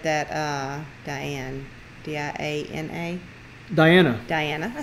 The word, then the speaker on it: Diana: Diana at Justice Acres said that Diane, D-I-A-N-A.